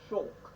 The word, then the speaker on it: Shulk: we're now met with our actual protagonist shulk pronounced shulk who lives in colony nine together with his